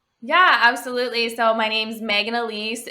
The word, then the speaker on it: Maegan Aleece: see your content yeah absolutely so my name's megan elise it's spelt uniquely so m-a-e-g-a-n-a-l-e-e-c-e i'm megan elise everywhere on instagram on youtube on um on